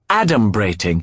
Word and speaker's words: adumbrating: a dictionary at him it's pronounced adom brating it means pending or foreshadowing